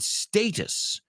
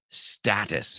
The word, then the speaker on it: status: He said status, and I said status as an American. But just so you know, there are two different ways to pronounce that.